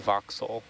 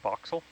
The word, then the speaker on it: voxel: why I don't know why I said voxel I kept hearing boxel foxel but Fox I said it right just is not